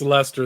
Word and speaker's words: Leicester: How do you pronounce it? I'm I think terrible. it's Leicester. They drop Leic all the or letters and say Leicester?